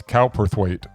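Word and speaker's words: Cowperthwaite: Director Gabriella Palperth, is that how it's pronounced? Kalperweight. Kalper Kerwait. Or is it Calperweight? I'd say it would it's cowperthweight. Cowperweight and written by Brad Inglesby.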